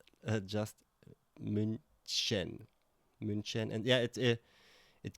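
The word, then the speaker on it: München: Because I guess the ch sound is a bit difficult to pronounce and many people say or would say munin but it's minen.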